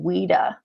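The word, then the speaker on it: WIDA: then other states are using weeda that's how you pronounce wi da rita and they're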